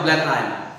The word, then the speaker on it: Blenheim: After Blenheim. How are you going to pronounce?